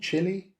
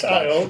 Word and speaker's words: Chile: And to me, again, just like Voodoo Child, what is it, Child? Chili? It's spelled like the country Chile, isn't it? It does. It is. Let's call it Voodoo Chili. No, it's Child.